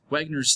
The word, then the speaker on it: Wegener: Wegener's theory, and it's pronounced Wegener because he was German.